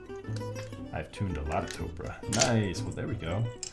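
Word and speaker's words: Topre: Is it, I think it's Topra, right? Like Oprah, but with a T? That's the official way to pronounce it, right?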